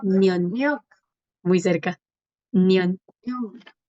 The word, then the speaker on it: 년: Miot, Nyok, nion.